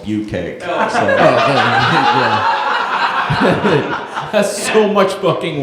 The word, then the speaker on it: bukkake: If you didn't know how to pronounce it, it's actually called bucake.